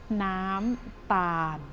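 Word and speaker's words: น้ำตาล: word for this item it is nam bam means sugar or sweetener the first syllable syllable is nam um make it a long long wow Nam and long vowels for both suitable let's try again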